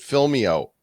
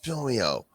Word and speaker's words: Film.io: is film dot IO or pronounce it fill me out or Alvina will come banging on your drawing it's fill me out uh thanks for coming